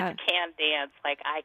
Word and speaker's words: Candance: say your name wrong there's another n in there yeah you can dance I can dance okay wow that's beautiful